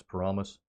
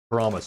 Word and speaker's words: Paramus: Am I pronouncing that right? Paramus. Yeah, Spaceballs is cool. Paramus, that's what it is.